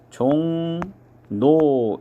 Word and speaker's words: 종로: 종로 같은 경우에는 이응하고 리을하고 만나면 이응이 비음이기 때문에 리을이 비음 니은으로 바뀝니다. 그래서 발음을 하면 종노 이렇게 발음을 해야 맞겠죠.